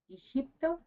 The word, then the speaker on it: Egipto: The letter G, pronounced like an H in English, so we would say Hipto, awakens the chakra of the liver.